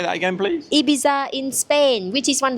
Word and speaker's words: Ibiza: a lot of the TH sounds Ibiza. are mixed with F sounds. So Ibiza. the actual correct pronunciation is Ibiza. Ibiza. Ibiza. With a THA at the end.